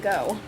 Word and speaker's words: Geaux: Plan and Go. Plan and Go. Geaux is how it's spelled. It's French. It's French.